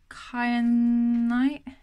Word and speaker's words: kyanite: But that one there, that how do you pronounce it? Kyanite.